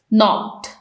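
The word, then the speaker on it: knee: घुटना जखमी हो गया इसमें है के साइलेंट नी में इसको हम एन से प्रोनाउंस करना स्टार्ट करते हैं तो यहां पर हमने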